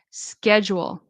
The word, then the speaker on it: schedule: So the ch, it's going to be a k sound. SK schedule and the D. Schedule schedule schedule.